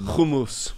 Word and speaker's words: Kumus: great horses of the Kumus Plains. That's how it's pronounced, by the way. Priests. How is that? Just for Kumus. Kumus. Kumus. Not hummus. Not kumus. It's kumus.